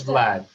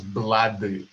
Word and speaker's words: Vlad: name is vlad and in korean my name is pronounced as blood it is because there is no sound v in korean language so they replace it with b all right so my